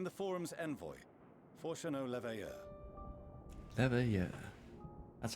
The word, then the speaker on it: Leveilleur: Leveilleur. That's how it's And you pronounced.